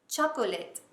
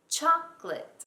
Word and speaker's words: chocolate: It's not chocolate. It's chocolate. Well, that's how I say it. I swallow the O. I never say it. I say it as two syllables.